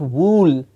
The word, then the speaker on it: wool: L will and not wool it is not a new it's not a rule it's wool it's this sound oh yes it is